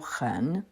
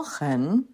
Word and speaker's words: 很: Le mot ren se prononce tantôt au troisième ton, tantôt au ton léger. Au ton léger, il a perdu tout sens intensif. On ne le traduit donc pas. Au troisième ton, il signifie très.